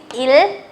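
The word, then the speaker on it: ils: Here also s is silent, so it is il, elle.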